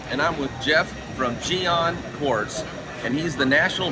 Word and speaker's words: Gyeon: Gyeon Quartz.